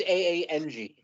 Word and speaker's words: Aang: how mad they get Ong yeah it's supposed to be Aang but in the in the movie version they pronounced it Ong and like fans went